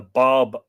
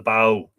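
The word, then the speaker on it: Badhbh: Rion uh bow or the Bob as you would have seen a badb b-a-d-h-b-h it's spelled here the bow and more Rion or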